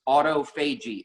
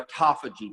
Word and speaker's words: autophagy: Jen, the other thing that comes up is autophagy or autophagy, depending on where you live and how you want to pronounce that.